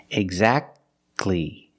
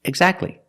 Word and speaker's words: exactly: pronounce a T exactly you go from the C Sound to the L Sound exactly exactly or the word Christmas